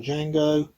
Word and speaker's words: Django: The D is silent by Howard Hughes. The story, The Legend Continues by Howard Hughes. The other, Sergio of Italian cinema. Sergio Corbucci on Django.